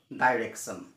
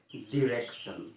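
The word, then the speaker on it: direction: ই সি টি আই ও এন আমি কও ডাইরেকশন ডাইরেকশন না হয় আসলে এটুকু হইছে ডিরেকশন তো যার ক্ষুধ উত্তরটা হইছে উচ্চারণটা হইছে ডিরেকশন ডিরেকশন মানে দিক বা নির্দেশনা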